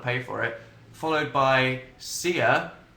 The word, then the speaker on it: Sia: for it, followed by Sia, which I think quite much is how you pronounce her name.